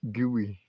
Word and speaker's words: Guy: They see Guy everywhere, and so they that's what they put on the paperwork when they do the birth certificate thing. But it's not how they pronounce it. They pronounce it gooey.